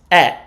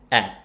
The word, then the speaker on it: è: While in fact, E is pronounced open. Estate è, right? It's not estate e. It's estate è.